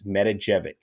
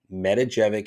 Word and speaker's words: Matijevic: last name please help it's metajevic metajevic is how you say his last name and i'm pretty sure that's how it's supposed to sound that's how i've heard